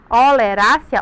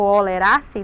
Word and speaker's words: oleracea: É um pouquinho difícil porque é em latim, mas é assim que a gente pronuncia, oleracea ou oleraceae, dependendo da forma que você fala, né?